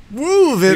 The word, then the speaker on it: Woovit: That's going to become the authorized pronunciation. Woovit. You like to woof it. You gotta add the emphasis at the beginning.